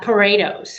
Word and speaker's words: Poredos: is different your surname is how do you pronounce her name uh paretos paretos i always thought it was pharaohs but